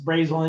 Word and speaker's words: Brazil: the side spelled this way how would you pronounce that brazil okay yeah so what i call that brazil now if you're in indiana it's brazil nice that's brazel indiana um how about this how would you